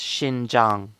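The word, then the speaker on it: Xinjiang: made museu combines world-famous zhen jiang cotton with okay Alex dude it's pronounced Shin Jang not zing zing zing famous Indian cotton with Shin Jung the X sounds like the letter SH Shin Jang it's world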